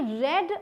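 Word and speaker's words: read: थी अब ध्यान दीजिएगा स्पेलिंग रीड की है रीड की सेकंड फॉर्म जो होती है स्पेलिंग सेम होती है उसे बोलते क्या है रेड तो इसे आप पढ़ेंगे रेड ठीक है आई रेड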